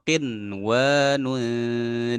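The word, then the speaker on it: قنوان: Maka kita baca wa minan nakhli min tal'iha qinwanun daniyah. Qin ya, qinwanun daniyah. Nah, seperti itu cara membacanya.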